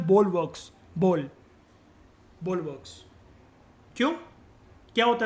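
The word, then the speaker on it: bulwarks: इसको बल्क या बुल्क वर्क्स नहीं बोलते, द प्रोनाउंसिएशन है बोलवर्क्स।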